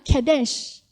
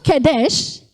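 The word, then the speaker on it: קדש: Kalau di dalam Ulangan 23:17 bacanya Kedesh. Walaupun ini katanya sama, hurufnya sama, persis toh? Ini Kedesh bacanya. Dalam Keluaran 3 ayat 5 bacanya Kadosh.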